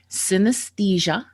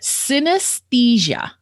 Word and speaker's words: synesthesia: Synesthesia. Okay. Synesthesia. Okay. Synesthesia. Yeah. So I guess it's like anesthesia, but synesthesia.